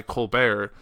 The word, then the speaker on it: Colbert: but he went by Colbert, which is how it's pronounced, but no one looking at that will think that, and the T is silent, all that, and my